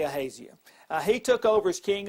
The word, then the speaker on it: Ahaziah: Ahaziah, or Ahaziah, depending on how you might want to pronounce that. These words are always a little tricky. I'll just say Ahaziah.